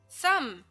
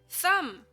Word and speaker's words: thumb: end of the word so we write it but we don't say it lamb lamb c c thumb thumb if you like the